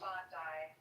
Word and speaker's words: Bondi: And they would say, "Go to Bondi Beach or Bondi Beach, however you pronounce it." Bondi.